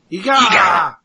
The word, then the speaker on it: Eega: Also the star of, what is it, Eag? How do you pronounce that? Eega!